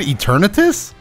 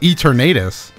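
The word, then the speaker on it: Eternatus: eternity and the legendary that's how you pronounce it eternitus i thought it was e ternatus eternity eternity sounds weird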